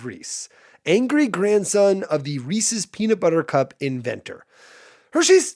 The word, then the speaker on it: Reese's: It's Reese's.